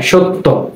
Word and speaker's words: সত্য: সত্য। যখন উচ্চারণ করতে যাই তটা কিন্তু দুইবার উচ্চারণ হয়, এবং শেষবার যখন তটা উচ্চারণ করি তখন এর সাথে ওকার চলে আসে।